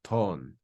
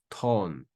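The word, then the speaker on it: τὸν: So a grave accent, and then at the end, we've got the consonant nu, which is pronounced like the English N. So this is read as ton, ton, ton.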